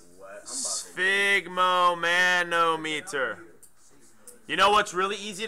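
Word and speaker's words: sphygmomanometer: writing sigon Sigma mon I pronounce it like this okay spigo manometer you know what's really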